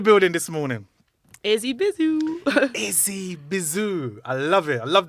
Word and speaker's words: Izzy Bizu: this morning Izzy bizo Izzy bizoo I love it I love that name thank you I love it and you know all the time I've been pronouncing it wrong I've been saying Izzy blue I don't know why